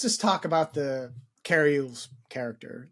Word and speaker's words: Elwes: It's Elwes.